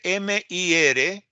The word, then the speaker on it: Mir Puig: Porque es catalán, ¿verdad?